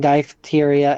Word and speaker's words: diphtheria: I'm That's not in front of No, P H would be f No, I know.